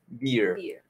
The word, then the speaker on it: beer: Esto se pronuncia como, como barba, pero sin la D, beer.